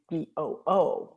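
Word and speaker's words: vingt-deux: But yeah, he changed it and it's Vandoo, but it's not Vandu, like but that. that's not how it's spelled in Yeah, no, French.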